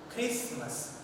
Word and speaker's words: Christmas: And the last word, Christmas, Christmas. We have here the T letter is not pronounced, which becomes silent. So we have the pronunciation of the particular word, Christmas. T becomes silent.